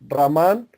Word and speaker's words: Raman: el nombre del amplificador se escribe raman amplificador a verás power model así como aparece en la imagen no sé si lo alcanzan a ver se dice así rahmán amplifica amplifier a verás